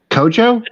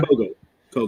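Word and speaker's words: Kohgo: and against Willow and uh, Momo Kojo. Is that how you pronounce it, Kojo? Kogo. Okay. Mm-hmm. Oh, Kogo. Okay.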